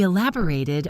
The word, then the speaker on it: elaborate: As an adjective, it's elaborate with a short final syllable. As a verb, the ending is slightly longer.